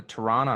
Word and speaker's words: Toronto: the the little T the little T is the second T in a word and you kind of dampen it you don't really pronounce it yeah like the Tennessee